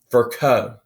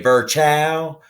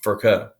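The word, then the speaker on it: Virchow: rudolph and his name is per ounce it's pronounced for co now down here in the south we want to say ver chow but that's not correct his name is furko and he basically came up with the with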